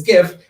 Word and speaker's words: GIF: The fact that now you can do GIFs and because it's GIF, it stands for graphic. It's an acronym. Graphic is okay, hard G.